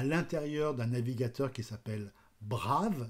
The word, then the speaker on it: Brave: d'un navigateur qui s'appelle brave B R a V e on dit plutôt brave mais je prononce à la française et donc dans leso